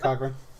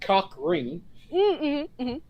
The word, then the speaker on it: Cochran: Yeah, that's Jack Cochran. Okay, good. He changes his name, Motherfucking Cochran. Or, depending on who you're talking to, Jack Cockring. Because that's been a standard mispronunciation there, but yeah, it depends on the guy.